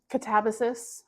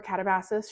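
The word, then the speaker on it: Katabasis: So, Catabasus or Catabases, she really doesn't care. She's said multiple times she doesn't care how you pronounce her books, but it was fantastic.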